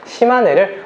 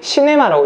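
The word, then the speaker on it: 島根: 역사는 있는 그대로 해야 되니까 시마네를 웃기게 시네마라고 읽으면 큰일 납니다.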